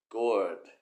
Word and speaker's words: gourd: ค ำ นี้ อ่ า น ว่ า gourd gourd น ะ ฮ ะ มี ป ร